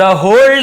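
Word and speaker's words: whole: but today, लेकिन आज, द होल day passed, पूरा दिन बीत गया, होल डे, डब्ल्यू साइलेंट होता है, केवल होल पढ़ेंगे, पूरा, होल फैमिली, पूरा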